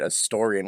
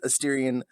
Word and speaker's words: Asterion: I don't know why Adam's suddenly taken to calling it Astorian when they've been our sponsor for the last year. Dang it. You know them thanks to their gorgeous Asterion, I almost said it wrong because of you right